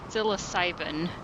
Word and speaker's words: psilocybin: almost sounded like, oh god, how do I pronounce it? Psilocybin.